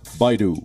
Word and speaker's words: Baidu: bi do bi do bi do the correct pronunciation is Baidu Adobe yeah I do be a dope Adobe